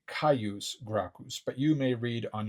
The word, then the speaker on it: Caius Gracchus: English G sound, whereas I'm pronouncing it often with a C sound. I say Caius Gracchus, but you may read on your own in some other source Gaius Gracchus.